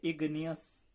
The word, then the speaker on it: igneous: Slow cooling produce the आई, जिसे हम pronounce करेंगे इग्नियस, इग्नियस।